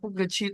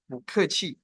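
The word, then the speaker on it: 不客气: Bacanya bukan pu keci. Tapi bu keci.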